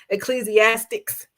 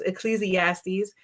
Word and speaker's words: Ecclesiastes: It's from I'm gonna say it like them old folks, Ecclesiastics, but no, it's Ecclesiastes 5 verses 18 to 20.